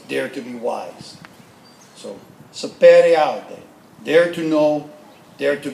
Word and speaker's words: Sapere Aude: This is the correct pronunciation because I will butcher it. What happened? Sapere Aude.